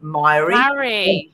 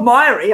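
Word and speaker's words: Mairi: which is spelled m-a-i-r-i-e myra it's not myery i can tell you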